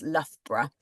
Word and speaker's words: Loughborough: many vowels um but it is actually very easy to say just kind of two syllables lra and that's basically it um but you may